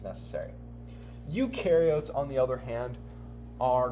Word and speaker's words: eukaryotes: Eukaryotes do have a nucleus. So u rhymes with do, or u rhymes with true. So eukaryotes have a true nucleus.